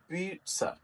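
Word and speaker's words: pizza: also Italian word and the correct prawn पीट स पीटस इसमें टी की साउंड भी है पीटस पीटस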